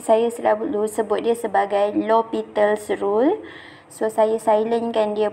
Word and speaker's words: L'Hôpital: So, ia dipronounce dia sebagai L'Hôpital's ataupun ejaannya kadang-kadang dieja penuh begini macam hospital, tapi S-nya disilentkan. So, dia tetap akan seakan L'Hôpital's lah.